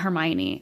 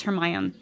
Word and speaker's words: Hermione: my on her mind it's not Hermione apparently everybody's pronouncing it incorrectly but it's her my own Hermione like that's what everybody says it's not yeah and the same